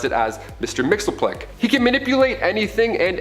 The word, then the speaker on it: Mxyzptlk: His real name doesn't even translate into Earth's languages, but we collectively pronounce it as Mr. Mxyzptlk.